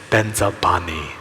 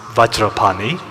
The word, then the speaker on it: Vajrapani: me but you know we Tibetans we have always pronounced it as Ben's are Bonnie you know and that Envy Tibetans are quite proud of that you know so whenever there's this word which is actually pronounced vajrapani we insist on bends of Pawnee you know we insist on Benza whenever there's this word